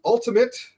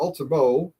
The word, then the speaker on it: Ultimo: Uh this is a cruiserweight title match where the ultimate or Ultimo Dragon depending on who you are and whether you want to say his name right.